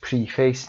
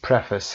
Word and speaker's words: preface: و نکته رو بگم این کلمه تلفظش پریفیس نیست، پرفس هست که مقدمه معرفی میشه گفت یا مقدمه هست.